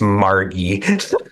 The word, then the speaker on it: Margi: And you were like, and you just looked at me and go, hon, it's Margie. I was like, she corrects people when they say her name wrong.